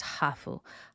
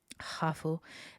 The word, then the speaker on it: hafu: The first word is hafu. Hafu was used by Kiyoto early on as a way of that other people are identifying them. And basically, it's just the English word half with a Japanese pronunciation.